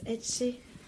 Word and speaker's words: Etche: Ah, ça se prononce Etche. Oui. C'est du catalan. C'est du basque. Etche, basque.